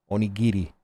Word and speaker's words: Onigiri: But yeah, the name is pronounced Onigiri. Onigiri. But Neuro called her Onijirai, and it just kind of stuck.